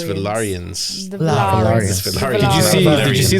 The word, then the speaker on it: Valyrian: saw a clip about how we're saying this name wrong the valan it's valarian did you did you see the knife that